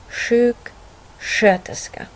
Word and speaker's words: sjuksköterska: Står sk framför mjuka vokalerna e, i, y, ä eller ö, då uttalas sk som sh. Här ser vi några exempel. Här ser vi sk framför mjuka vokalen ö, och då uttalas det som sjuksköterska.